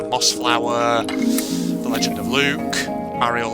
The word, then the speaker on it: Mariel: The Legend of Luke, Mariel of Redwall, or Marielle, as it technically is supposed to be pronounced.